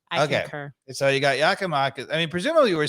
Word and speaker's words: Giakoumakis: So evidently, if Dave has done his research, evidently the proper pronunciation of this Greek fella's name is Giakoumakis. Giakoumakis.